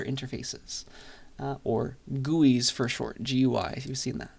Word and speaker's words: GUI: Graphical user interfaces, or GUIs for short, GUI, if you've seen that. It's pronounced GUI, and it's short for graphical user interfaces.